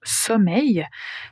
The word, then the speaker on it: sommeil: Tout d'abord concernant la prononciation du mot sommeil. Ça rime avec soleil.